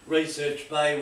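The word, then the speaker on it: Recherche Bay: The usual routine is 50 miles down to Research Bay, which is sort of over here.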